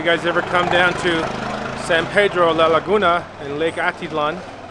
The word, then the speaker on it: San Pedro: Marlene grew up in a town called Sen Pedro that's how they say it over there but it is San Pedro same name as this